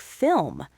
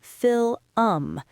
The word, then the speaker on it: film: Or think about a word like film, F-I-L-M. The L and the M are right next to each other. A lot of learners will say fill-um. They turn a one-syllable word into a two-syllable word.